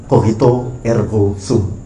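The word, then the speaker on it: cogito ergo sum: Eh, pernyataan tadi ee saya bacakan cara baca yang benar ya. Dalam bahasa Latin Kohito ergosum.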